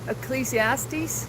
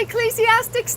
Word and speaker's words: Ecclesiastes: Did Did Solomon write Ecclesiastes? Hey, you say Ecclesiastics, too? You do know it's Ecclesiastes, right, OG?